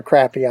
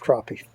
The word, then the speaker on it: crappie: south carolina now and they pronounce it just a little bit different i don't go after crappy i catch crappie sorry about that folks